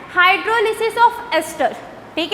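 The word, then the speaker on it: hydrolysis: पहले क्लियर कर लो, हाइड्रोलिसिस correct होता है, बट आप इंग्लिश को कई तरीके से प्रोनाउंसिएट कर सकते हो, तो लाइसिस भी चल जाता है, हो, ठीक है। तो हाइड्रोलिसिस ऑफ एस्टर, अगर हम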